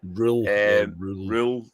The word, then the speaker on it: Röhl: Rule. I did see he had an interview with Sheffield Wednesday I think it was and they asked him how do you pronounce his name and it was Rule R.